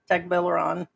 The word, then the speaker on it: Tagbilaran: Tagbilaran.